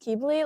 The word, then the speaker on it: Quibly: and the other one quibly am I even saying that right uh it's pronounced keybli like they're just characters